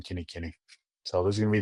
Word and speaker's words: Kinikini: You can find me by my name, spelled like lame, last name, Kenny Kenny.